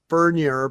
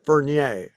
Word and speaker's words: Furnier: Well, his family pronounces it Furnier, but Alice pronounces it Fernier.